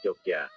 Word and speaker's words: Yogyakarta: Dalam penggunaannya sehari-hari, Yogyakarta lazim diucapkan Jogja, atau Ngayogyakarta.